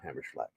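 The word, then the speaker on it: Hammerschlag: I I know it just says slag, but I have to say Schlag because I know that like even though I don't do pronounce like I'm from Europe, I do know that that would have an sh sound. So, hammer schlag.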